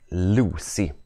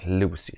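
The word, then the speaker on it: loci: i detta lucus och lucus i plural det blir Lucy Uttalas det Lucy ett lukus flera Lucy så på varje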